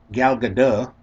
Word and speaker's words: Gal Gadot: Gal Gadot. In case you ever wonder how to pronounce her name, because think Bridget Bardot, but with a G.